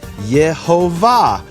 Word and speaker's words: Yehovah: a graphic that illustrates this li olam has the same vowels as yehovah which are the vowels he's telling us the statement this is my name forever is itself a hint at the true pronunciation of the name now now i have